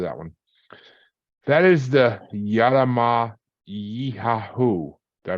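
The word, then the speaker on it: Yara-ma-yha-who: That is the Yarama Yihahu. Did I pronounce that right there? Yeah, Brock? Yaramayahu.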